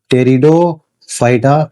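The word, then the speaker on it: Pteridophyta: और तीसरा जो पीटी है पीटी मतलब यहां पीसाइलेंट है। इसको अपन बोलते हैं क्या? टेरिडोफाइटा इसको बोला जाता है।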